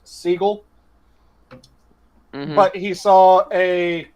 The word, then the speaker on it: Seagal: The one that still makes me laugh is Seagal's surname is actually pronounced Seagull.